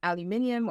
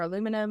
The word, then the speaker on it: aluminium: always attached to um aluminium or aluminum as the Americans say and that's fluoride is